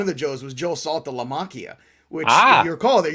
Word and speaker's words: Saltalamacchia: So I'm one of the few people that when I saw that name, I went, oh, Saltalamacchia.